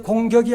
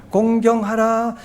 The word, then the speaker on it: 공경: 발음을 잘해야 돼요. 공격이 아니에요. 공경하라.